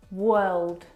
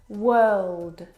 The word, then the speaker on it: world: word world and work now you're probably mispronouncing these words because you are looking at the o r and you're trying to pronounce the vowel sound o like in do but this is incorrect the vowel sound is actually uh as in her work world word uh